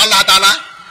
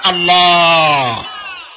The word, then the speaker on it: আল্লাহ: গুণাবলীতে বিশ্বাস আল্লাহর নাম আল্লাহ বলেন তো আল্লাহ নয় কিন্তু আল্লাহ হচ্ছে অশুদ্ধ শুদ্ধ হচ্ছে আল্লাহ বলার সময় মুখটা গোল হয়ে যাবে বলেন তো সবাই উচ্চারণ